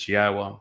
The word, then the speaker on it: Yahowah: God's name is pronounceable. It is Yahowah. There is no B sound in the original Hebrew language.